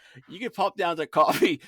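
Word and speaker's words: Ko-fi: And if you would like to encourage me, you can pop down to Coffee, spelled K-O-F-I. That's Coffee, spelled K-O-F-I, or Patreon, which is spelled like Patreon.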